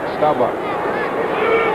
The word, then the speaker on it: Staubach: By the way, that's the way he pronounces his name, like it's B-O-C-K, Bach, Staubach.